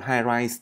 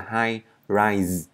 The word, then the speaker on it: high rise: Nhưng từ high rise này người ta sẽ hiểu là tòa nhà cao tầng. Các bạn đọc rõ ràng ra đây là high rise, tức là âm Z ở cuối, đọc là high rise.